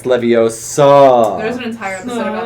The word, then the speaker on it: Leviosa: Leviosa, it's Leviosa.